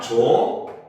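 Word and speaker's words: 좋고: 자, 그 다음 조코 같은 경우도 얘도 발음을 하면 조코가 되죠. 그쵸?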